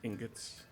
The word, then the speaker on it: ingots: some iron ingots um ingots you however you say it how do you pronounce ingots it's usually pronounced inut with a soft G but either way you're